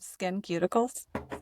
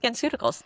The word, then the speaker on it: SkinCeuticals: As I can't even pronounce the name, Skin Cuticles. SkinCeuticals.